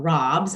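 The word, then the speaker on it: raabs: But we also have a lot of these brassicas that are called, we call them robs, and usually I think that farmers typically spell that R-A-A-B.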